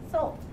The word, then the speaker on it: Seoul: south korea is called seoul kind of like you say like the soul of your foot it's spelt a little bit differently at the our but it's pronounced soul they actually had the